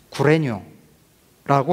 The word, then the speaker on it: 구레뇨: 시리아를 다스리는 총독은 클린이에요 성경의 기록된 대로 발음하면 구레뇨라고 하는 사람이었습니다 성경은 지금 총독의 이름도